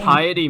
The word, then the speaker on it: piety: I actually didn't know what piety meant, so I fucking looked it up. I don't know what it means either. You don't know what piety means? Piety, like what rhymes with society?